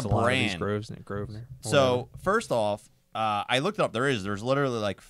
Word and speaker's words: Grosvenor: I think it's Grosvenor. Grosvenor. Maybe the S is silent.